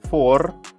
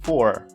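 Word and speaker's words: four: Just remember that the final R is rhotic.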